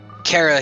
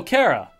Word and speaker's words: Kara: very beginning we see cara here getting uh dragged away by the knights to go back home i'm sorry psy who cara oh kara because that's the proper way to say it in any case a